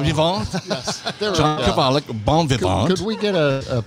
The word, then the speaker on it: bon vivant: The T would not be pronounced in French.